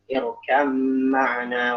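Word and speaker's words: ارْكَب مَّعَنَا: Irkam ma'ana wa la takum ma'al kafirin. Di surat Hud. Irkam ma'ana.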